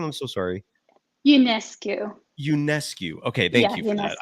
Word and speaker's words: Ionescu: Is that how do you pronounce her last name? I'm so sorry. Ionescu.